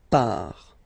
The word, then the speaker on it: part: So final S not pronounced il l final t not pronounced il l par.